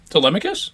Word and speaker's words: Telemachus: Am I saying that right? I am, right? Telemachus? Yeah. Yeah, that's it. Yeah, you said it right.